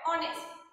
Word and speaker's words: honest: there is a silent edge so the correct pronunciation of this word honest don't speak phonics and what is the meaning